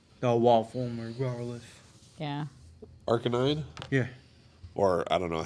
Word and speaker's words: Arcanine: Arcanine? Yeah. Or I don't know how everyone else pronounced it. I always pronounce Arcanine. it Arcanine. It's Arcanine, Arcanine.